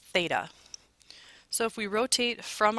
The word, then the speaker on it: theta: Usually when the angle is missing, we use this open circle with a line through it, and it's pronounced theta.